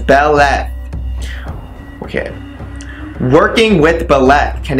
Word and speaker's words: Beleth: there we go so the left pronounced as Bella okay working with Bella